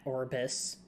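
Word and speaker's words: Aurbis: whole shtick created the Arbus. There's no good way to pronounce that. Orbis.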